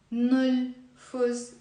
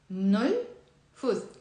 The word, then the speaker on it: نلفظ: It's not نلفظ. It's 2 syllables. It's نلفظ. M and N together.